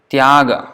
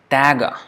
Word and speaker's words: Tyaga: And the same T-Y-A, Tyaga, for example. Tyaga is pronounced as Taga, Taga, or they don't even pronounce the other one, the A at the end. So it's tag, tag.